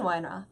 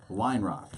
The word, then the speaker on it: Weinroth: Weinroth. Weinroth.